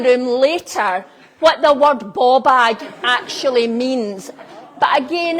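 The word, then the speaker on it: bawbag: Bobag.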